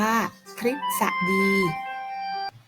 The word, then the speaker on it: ทฤษฎี: นัก เรียน คะ หรือ ตัว นี้ อ่า ออก เสียง เป็น ริ ได้ นะ คะ เช่น คำ ว่า ฤทธิ์ อ่าน ว่า ฤทธิ์ ทฤษฎี อ่าน ว่า ทฤษฎี หรือ ตัว นี้ อาจ